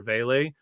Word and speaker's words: Vele: Hey, yo, it's Vele, bro. Vele. I keep mispronouncing it.